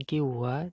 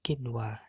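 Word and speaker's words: قِنْوَانٌ: Dibaca kin wa nun ya, dibaca jelas, bukan kiwa tapi kin wa.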